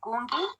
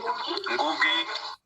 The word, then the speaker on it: Ngugi: I'm struggling to pronounce it, but Gungi, please go ahead. Ngugi. Sorry about that. Yeah, it's Ngugi.